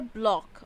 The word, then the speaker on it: bloc: हमारा next word है block. Okay, so spell it BLOC.